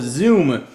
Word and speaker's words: Xoom: it is the Motorola Zoom spelled with an X don't confuse that with a z the way you'd expect to spell it uh let's go ahead